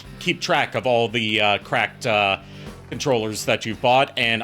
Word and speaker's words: CRKD: PC, I recommend the cracked Les Paul. CRKD is how you spell the company. It's pronounced cracked, but it's spelled CRKD.